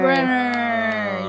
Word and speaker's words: Brynner: Brenner. Yes. So wait, what's So Brenner? now It looks like Briner. It's spelled like Briner.